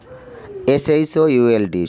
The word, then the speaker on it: should: শুড, SHOULD, শুড, এখানেও শুড, এখানেও এল এর উচ্চারণ হবে না।